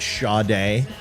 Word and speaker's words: Sade: something right where basically her name was Sade but she pronounced it sha day and smooth Operator I'm